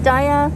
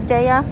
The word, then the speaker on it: Daiya: you know you're okay some people pronounce it daiya some people say daiya but if you see